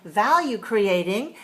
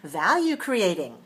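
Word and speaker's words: value-creating: we have a hyphen we say value creating then we have five syllables all together and we stress the first syllable in the whole phrase watch me value creating very nice do that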